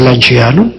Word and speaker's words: Lanciano: Bueno, pues la anchacia así, la C se pronuncia como che suave para decir lanciano y Lanciano está distante de Roma 280 km en una de las autopistas más hermosas que yo conozco.